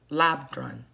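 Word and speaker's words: Labdrön: email and the card is uh machik labrand labrun okay that's how you say her name i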